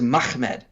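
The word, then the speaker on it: מחמד: and his syriac pronunciations the real way you would pronounce this word is mahmed uh you would not add an additional syllable in there uh because there's not there's no original letter in there that would be between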